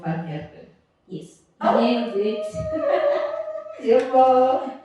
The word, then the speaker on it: Van Heerden: So Sis, by the way, guys, I was practicing the surname before we started this, so I have to say it right. I am here chilling with Van Harden.